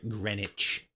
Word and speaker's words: Greenwich: Sorry, Greenwich. I got to go into Greenwich. Greenwich station. Greenwich. Even though it's PR, Even though it's spelled green witch.